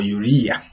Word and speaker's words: urea: So the first excretory organ is the kidney, which excrete urea or urea as it is pronounced, excess salts and excess water.